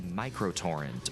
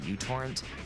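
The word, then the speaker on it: µTorrent: or technically microtorrrent or mutorrrent the name of the letter in the Greek alphabet but because this letter at the beginning of the word resembles a u people just started calling it that.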